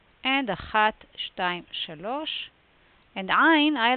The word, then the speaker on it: Ain: Ain, modern pronunciation like the aleph, and traditionally in the throat.